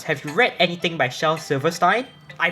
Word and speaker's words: Shel Silverstein: By any chance, have you read anything by Shel Silverstein? I pronounced it correctly, holy shit.